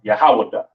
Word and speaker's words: Yahweh: And it's pronounced Yahweh.